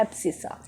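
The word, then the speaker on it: abscissa: थोड़ा सा हार्ड है बट ठीक है, प्रोनाउंसिएशन थोड़ी सी हार्ड मिलेगी, इसको बोलते हैं एब्सिसा।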